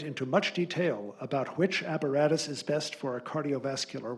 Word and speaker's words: apparatus: Your word is apparatus. Apparatus. Alternate pronunciation, Apparatus.